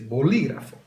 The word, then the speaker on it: bolígrafo: So for example, do I say bolígrafo, bolígrafo, bolígrafo, or bolígrafo? You'd say bolígrafo.